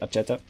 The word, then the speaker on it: Acheta: Well, pronounce it Acheta. It's Acheta from now.